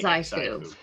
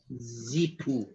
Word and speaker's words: Xxiphu: I would say Xifu. For those at home, Xifu. it's XXIPHU. Zipu. Zipu.